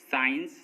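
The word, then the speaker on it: science: सी साइलेंट, एस के बाद आया सी साइलेंट होता है, मतलब जब किसी वर्ड में एस के बाद सी आएगा तो एस के बाद आया सी साइलेंट होगा।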